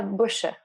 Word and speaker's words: Boucher: uh is it boucher how do you pronounce your last name it's a bush it's german so it's like a silent e at the end it's very weird that's